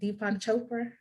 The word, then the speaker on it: Deepak Chopra: Deepak Chopra.